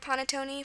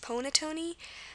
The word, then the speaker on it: panettone: to imagine an O, for the word panettone, for the O to represent the ah sound, it looks like it would be pronounced ponettone, so it wouldn't look too right.